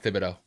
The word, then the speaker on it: Thibodeau: And I'm like, it's Kavon is it Thibodeau, like Tom Thibodeau, but spelled differently? Yep. Okay, so it is Yeah, Thibodeau. I think it's Kayvon Thibodeau.